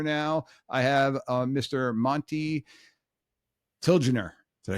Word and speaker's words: Tilgner: Monte Tilgner.